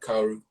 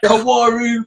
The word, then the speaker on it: Kaoru: They would always mispronounce the username anyway. You know, the handle. They'd like Kawaru, Kawarm. You know, just like random fucking shit versions of like, you know, when English people try to do Japanese names and they just butcher the pronunciation straight away.